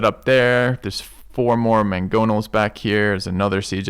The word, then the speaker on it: mangonel: how to say it mangonel let's find out again mangonel mangonel it's like two g's it's spelled m-a-n-g but it's pronounced m-a-n-g-g again mangonal okay try to keep